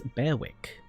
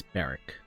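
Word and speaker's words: Berwick: like Beric, but it's spelled B E R W I C K. So you'd look at it and you'd be like, "Oh, that's Beerwick." No, it's Beric. You like take away the middle syllable so it's easier to say.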